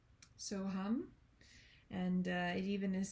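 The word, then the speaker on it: So Ham: Second word is, it looks like ham, H-A-M, but it's pronounced hum. So hum.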